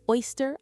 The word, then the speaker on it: oyster: In English, we call it oyster omelet. Let's break down the first word. O-Y-S-T-E-R, pronounced oyster. It starts with that bright oi sound, just like boy or joy.